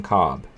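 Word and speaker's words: Kolb: uh it's colby's like corn on the cob he sucked he did suck he did yeah kevin uh kevin cobb don't don't uh don't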